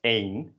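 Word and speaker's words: één: the same way as the number one which is pronounced as ain and they're pronounced differently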